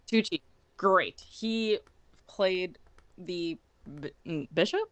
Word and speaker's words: Tucci: Tucci. Tucci.